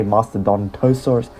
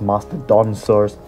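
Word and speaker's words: Mastodonsaurus: the masteron masteron Saurus I always put another syllable After Dawn I always say Master Don tosur that's not quite right it's Master da saurus we'll put him right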